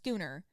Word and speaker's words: schooner: a schooner or Scher I think it's pronounced skooner of